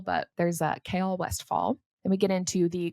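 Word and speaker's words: Chaol Westfall: received the most questions about his name is pronounced K West fall also known as kale also known apparently as Kyle yeah it's not Kyle like he's not been saying it like Kyle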